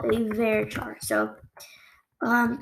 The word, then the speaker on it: varchar: what we call a very char so um some people pronounce their varchar i say very true um and this